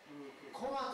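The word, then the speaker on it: 独楽: 楽、楽する楽ですね、はい、これでコマと読むぞ。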